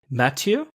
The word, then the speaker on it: Mathieu: podcast and don't know, AJ's last name is spelled Mathieu. And it was fun to hear some people say AJ Matthew? Matthew? Yeah. Yeah. They get it. They get it over there. They know what's correct.